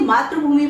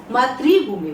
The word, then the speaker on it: मातृभूमि: हम सही उच्चारण यह है कि मात मातृभूमि बोलते हैं। क्योंकि इसमें जो मात्रा आती है वो ऋ की मात्रा आती है।